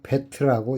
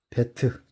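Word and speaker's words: בֵּית: 첫 알파벳은 베트죠. 베트. 우리가 저번 시간에 베레시트를 배웠는데 그 베레시트의 맨 첫 글자 베트와 똑같은 글자입니다. 베트라고 읽습니다. 현재 사용하는 히브리어는이 그 같은 그런 글자입니다. 그 이렇게 생겼습니다. 이거를 히브리어로 베트라고 읽습니다.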